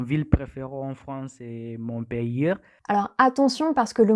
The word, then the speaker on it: Montpellier: Les lettres ER à la fin du mot font le son /e/. Donc on dit Montpellier.